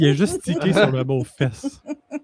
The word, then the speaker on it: Fest: juste sur le bon fess on prononce pas tant le T. J'ai remarqué tout à fait d'accord avec toi. Ça ça sonne som fess.